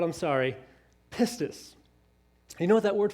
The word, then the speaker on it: pistis: is the greek word for faith is p-i-s-t pistis i think i'm saying it right if i'm not i'm sorry pistus you know what that word faith means it